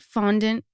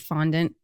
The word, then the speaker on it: fondant: Well, I suppose it would be a French word, so it would be fondant.